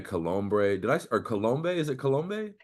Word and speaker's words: Colombe: Is it Colombe? The B is actually silent. How do you say So Colombe. It's Cologne? French. Oh, wow. It's Yeah. French? Yeah, it's French.